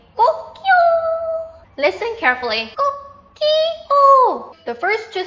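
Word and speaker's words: 꼬끼오: Kokyo. The first two syllables begin with g, right?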